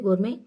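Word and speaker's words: gourmet: पहला ऑप्शन है गोर में। टी साइलेंट है यहां पर गोर में यानी अच्छा भोजन अच्छे भोजन का परखी।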